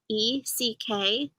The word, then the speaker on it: Eckstut: Sterry is spelled Sterry, and Eckstadt is spelled Eckstut.